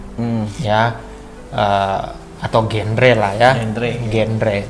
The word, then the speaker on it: genre: atau genre lah ya, genre. Cuman memang ternyata cara bacanya genre bro. Oke. Nuansa Francis gitu lah ya, genre ya.